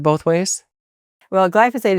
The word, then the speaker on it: glyphosate: Well, glyphosate is the correct pronunciation, but it's a hard word to pronounce.